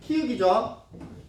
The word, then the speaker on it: 키읔: 그래서 기역, 디귿, 비읍, 지읒이 각각 키읔, 티읕, 피읕, 치읓 이렇게 발음되는 걸 말하고, 그리고 발음도 못하는 친구들이 있더라고요. 키읔이에요, 키역이에요? 키읔이죠.